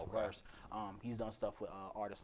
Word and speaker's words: VRSX: It's spelled VRSX, but pronounced Okay. Verse.